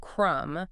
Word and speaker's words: crumb: if you think of Crum okay the B is silent yeah but then you